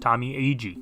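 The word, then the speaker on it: Tommy Agee: he's the one who made me realize it's pronounced Tommy AG he has a grand total of two touchdowns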